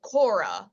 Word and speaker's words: Korah: are the followers of Kora which is how you say the name of the person who led the rebellion in this week's chapter